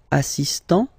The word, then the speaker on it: assistant: Il est assistant. So don't pronounce the final T here, but for the feminine form, elle est assistante.